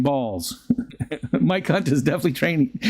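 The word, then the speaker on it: Baals: related a story that he once pronounced the mayor name uh I can't bite instead of balls um be Beals Beals mayor balls personally called him following the broadcast to correct his pronunciation saying son this is your mayor I pronounce my name balls Mike Hunt is definitely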